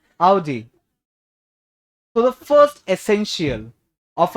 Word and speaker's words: Audi: So the 3 words here are called as lasagna, Wednesday, and Audi. Audi. Audi नहीं, ओडी तो बिल्कुल नहीं, ठीक है? Audi.